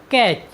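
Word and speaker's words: catch: next word meaning है सी ए टी सी एच कैच कैच मीस होता है पकड़ना साथियों यहां पर भी टी के बाद सी एच आया है इसलिए हमने टी का उच्चारण नहीं किया है साथियों चलते हैं अपनी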